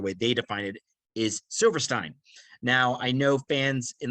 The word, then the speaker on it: Silverstein: So the band that we're talking about in its pronunciation, as I'm looking at it here, the way they define it, is Silverstein.